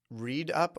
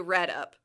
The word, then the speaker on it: red up: Read up or red up? You red up.